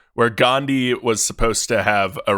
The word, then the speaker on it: Gandhi: rest of the world, Gandhi. Not Gandhi, Kyle. Gandhi. Spelled like candy, Wow. but with a G.